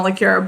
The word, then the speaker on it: Lecuyer: it doesn't dina liqueur my name is christina liqueur my last name is spelt l-e-c-u-y-e-r but if you come find me